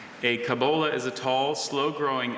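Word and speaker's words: cobola: kabola is a tall, slow growing evergreen tree of chiefly moist montaine regions from Costa Rica to Bolivia.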